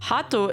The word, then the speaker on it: Haato: To put this in context, Haato is the Japanese pronunciation of the English word heart.